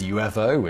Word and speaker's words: UFO: While today pretty much everyone pronounces UFO as UFO, it turns out that's not the way the person who suggested the phrase unidentified flying object, one Edward J.